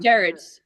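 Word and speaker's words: Gerard: Is it Jared or Jer? Jared.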